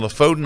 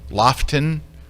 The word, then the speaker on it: Lofoten: Dave Williams and I in the Lofoten Islands in early September. It's not pronounced Lofoten, right? It's Lofton.